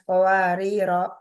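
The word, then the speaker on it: قواريرا: Itu ketika wakaf atau berhenti, itu tadi Mas Rafa bacanya panjang. Itu benar atau salah kira-kira ya? Kawarira. Salah, tat. Yang benar gimana? Kanat qawarira.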